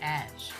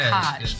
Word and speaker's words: Haj: You have reached Ash, not Hodge, not. It kind of rhymes with cash.